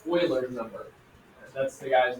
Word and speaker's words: Euler: And the technical name for it is called Euler's number. That's the guy's name here, Leonard Euler. Looks kind of like Euler, but it's pronounced Euler.